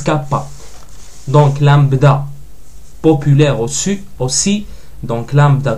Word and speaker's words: lambda: prononce cap pas donc lambda populaire auss aussi donc lambda comme ça et en majuscule c'est un V inversé oui mais ça se prononce lambda mu c'est comme ça